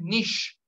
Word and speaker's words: niche: Market जिसको कहते हैं नीश, NICHE, नीश, सही है. अब उसको नीचे बोल दो या नीचे बोल दो, कुछ भी बोल दो, लेकिन स्पेलिंग यही होते हैं NICHE, नीश, ठीक है.